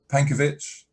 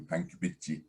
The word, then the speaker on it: Pankiewicz: spell it yeah um pankovich pankovich is i guess the easy way to say it if you're in japan it will be panky um so yeah p